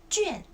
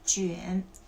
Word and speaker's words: 卷: One is 卷 4th tone. Second is 卷 the 3rd tone.